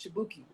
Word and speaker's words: Chibuike: So my name is Chibuike, pronounced Chibuki. So it sounds too similar to Dookie.